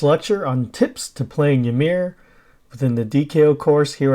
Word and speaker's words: Ymir: tips to playing yamir I know some people call it Emir but yamir is how we will pronounce it first off I like